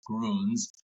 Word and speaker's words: Grüns: heard pronounce it over here is always like gruns. Gruns, you know, their growth is crazy, but now we know for a fact it is Gruns and uh it means greens in in the German language.